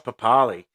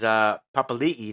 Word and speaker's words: Papali'i: Josh Papali, Australia, Samoa, Queensland, PM's 13, Canberra. Papa is Papali'i now, we pronounce it, sorry.